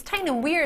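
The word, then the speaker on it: Tyne and Wear: say tin and wear it's tin and wear is how you pronounce it though isn't it can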